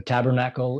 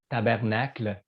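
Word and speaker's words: tabarnak: So we instead of tabernacle, we say tabernac.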